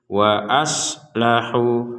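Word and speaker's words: وأصلحوا: Jadi kalau kita membaca itu wa aslahu harus jelas. Jadi huruf shadnya jangan dihidupkan kembali ataupun diberi harokat terdengar gitu ya. Wa aslahu jadi tidak ada yang seperti itu. Jadi shad betul-betul mati, tidak ada pantulan, tidak ada harokat ya, berbunyi wa aslahu nah, seperti itu harus jelas.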